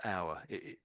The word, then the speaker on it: hour: So, it's exactly the same. If it's the same pronunciation, if you put an H in front, of course, it's a different word.